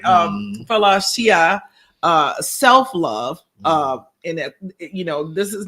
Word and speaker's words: philautia: And I'm going to let you pronounce it so I don't mess it up. I said PHILAUTIA. PHILAUTIA.